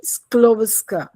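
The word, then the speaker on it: Skłodowska: It's Mary स्क्लोविस्का। स्क्लोविस्के यह डी जो है इट्स साइलेंट। ठीक है? और शी वाज़ a great women.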